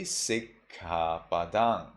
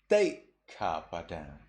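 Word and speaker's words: sikkhāpadaṃ: Sri Lankan person would say Sikkapadang. Burmese person says Teikkapadang. Teikkapadang. Or when you have Adinadana.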